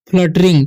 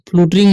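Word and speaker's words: fluttering: है, heard a great फ्लटरिंग, ठीक है, फ्लूटरिंग नहीं, फ्लटरिंग पढ़ेंगे, ठीक है, फ्लटरिंग, ठीक है, ओवर दियर, ठीक है, हेड्स।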